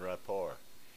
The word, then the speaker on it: rapport: I remember her giving me shit for pronouncing the T in rapport.